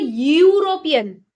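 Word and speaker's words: European: लेकिन क्योंकि हम उसको प्रोनाउंस कर रहे हैं यूरोपियन। इ और यू को मिला के यू कर दे रहे हैं।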